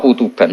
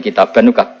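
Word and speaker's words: كتابا: Ada yang membacanya "kutuban," tetapi yang sebenarnya adalah "kitaban."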